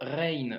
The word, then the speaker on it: غ: leçon numéro 24 donc la lettre rain se prononce comme le r en français que tu retrouves par exemple dans le mot paris donc c'est le même